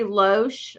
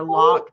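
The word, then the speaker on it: Loch: It's Gary Loesch or Locke, depending on how you want to pronounce it, L-O-C-H.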